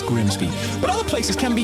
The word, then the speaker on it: Grimsby: Looks simple, but what if we told you it was pronounced Grimmies? We'd be lying, it's Grimsby.